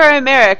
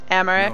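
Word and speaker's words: Aymeric: Although, I guess they pronounce it Imeric more than Imeric. Apparently I pronounce the Y too much. Imeric?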